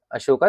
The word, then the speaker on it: अशोक: अशोका का बेसिक मतलब होता है, अशोक तो हम बोलते हैं प्रोनाउंसिएशन, बट बेसिक इसका जो लिखा जाता है वो है अशोका।